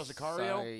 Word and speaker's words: Sicario: Oh, you saw Sicario?